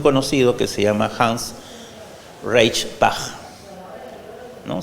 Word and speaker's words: Reichenbach: que se llama Hans Reichenbach, ¿no? Se escribe como María Reich, pero le agregamos como el compositor Bach, Reichenbach. Él escribió un libro que se llamó Experiencia y Predicción.